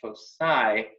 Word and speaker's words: foci: was very adamant that it is pronounced foci and not foci, as many people want to give that C a hard sound.